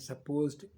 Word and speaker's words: suppose: Come to the next one, suppose and supposed to. The first one is pronounced with a Z.